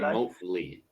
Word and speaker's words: remotely: Some were told to stop work remotely, remotely, remotely, remotely, Remotely. Remotely. Remember, this is always Lee, not lie. Lee. remotely as of last Wednesday.